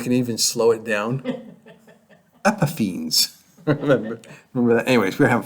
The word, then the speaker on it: Epiphanes: Okay, Antiochus Epiphanes, right?